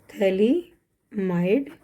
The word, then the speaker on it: phthalimide: PH यहाँ पे silent है, थैलीमाइड।